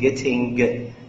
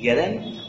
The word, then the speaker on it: getting: ومش لازم ننطق الجي، بلاش تقولوا لي getting، يعني اعملوا فلابتي getting وبلاش ننطق الجي.